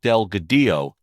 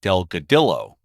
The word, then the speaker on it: Delgadillo: Advocate along Route 66 is Angel Delgadillo not Delgadillo and it's Tucumcari New Mexico